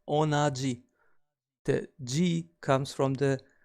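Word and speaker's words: 同じ: we pronounce same or identical as onaji.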